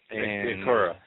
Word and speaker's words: Ankara: airports in, let me see if I can pronounce this right, Ankara? Ankara, yeah. Ankara.